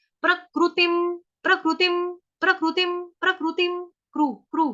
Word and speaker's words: प्रकृतिं: अनुस्वार जो ऊपर बिंदी है उसका उच्चारण होगा हलंत म। प्रकृतिम, प्रकृतिम, प्रकृतिम, प्रकृतिम, क्रू